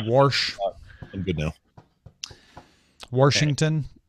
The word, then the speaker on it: Washington: Washington. Washington. I remember spelling Washington with an R, and my mom saying it's not spelled with an R.